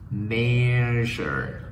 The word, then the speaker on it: measure: Measure, measure, measure.